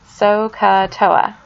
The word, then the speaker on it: SOHCAHTOA: So you can remember it by looking at SOHCAHTOA. SOHCAHTOA. So, if you spell it out, S-O-H is there, Ka, C-A-H, and Toa, T-O-A.